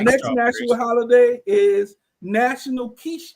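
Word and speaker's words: quiche: The next national holiday is National Kiche Day. Kiche. Kiche. Spelled with a qi. Q. Qui. Kiche day.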